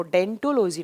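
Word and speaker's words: odontology: ओ यहाँ साइलेंट रहता है, जब आप प्रोनाउंस करते हैं तो उसको डेंटोलॉजी नाम से प्रोनाउंस करते हैं।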